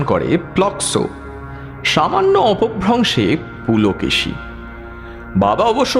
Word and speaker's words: প্লক্ষ: নামকরণ হয়েছিল প্লক্ষ তাই থেকে বাঙালি অবাঙালি নির্বিশেষে উচ্চারণ করে প্লক্সো সামান্য অপভ্রংশে পুলকে বাবা অবশ্য পুলকেশী বললে বকাবকি